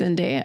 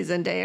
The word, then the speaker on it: Zendaya: Zendaya. Do you say Zendaya or Zendaya? I say Zendaya. I say Zendaya too. But Who says Zendaya? I've heard a lot of people say Zendaya.